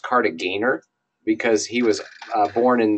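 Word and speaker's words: Kartagener: wasn't French so they'll G is hard in German yeah so that's that's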